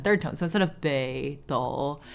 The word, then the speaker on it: Beidou: North Star, but Beidou, the words should have been pronounced Beidou, so it should have been like both third tone. But in Chinese, when you put two third tone words together, the tone shifts, so it becomes second tone and then third tone.